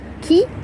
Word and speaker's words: ci: vegan in Welsh and key key is dog kin is dogs king